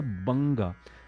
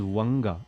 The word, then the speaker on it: बंगा: Punjab, Sindh, Gujarat, Maratha, Dravida, Utkal, बंगा. Just yesterday I was listening to somebody singing it as Vanga, and that is ridiculous. You know, it is totally wrong.